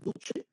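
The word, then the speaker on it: Duce: de Segunda Guerra Mundial Duche en italiano Cuando tú veas la letra c esa c se pronuncia como Che ent por eso se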